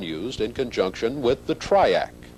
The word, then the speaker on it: TRIAC: attention to the Dayak the letters in the word Dayak may have originally stood for diodes and AC current but if so that distinction has been lost with usage today Dayak and triac are pronounced as words and the letters don't really stand for anything the Dayak is a